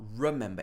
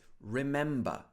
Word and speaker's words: remember: This is not remember, it's remember. Remember to take the washing out of the washing machine.